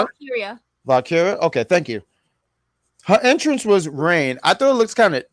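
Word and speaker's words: Valkyria: Valkriya.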